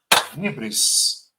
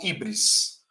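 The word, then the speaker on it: hybris: Ele comete um ato desmedido que se chama em grego hibris. Hibris se escreve H y B R I S. Hibris ou híbris.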